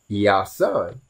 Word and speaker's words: Iēsoun: here, which is pronounced Iēsoun. Right. Mm-hmm. Which sounds like Yah's son.